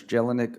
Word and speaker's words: Jelinek: lindsay mr chairman um how do you say your last name sir jelinek that's jelanik uh one i want